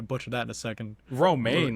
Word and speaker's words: Romijn: Romaine, like the No, lettuce. Yeah, it is like the lettuce.